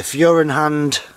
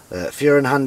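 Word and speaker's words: Feuerhand: It's the Furenhand Baby Special 276. Furenhand is spelt F-E-U-E-R-H-A-N-D.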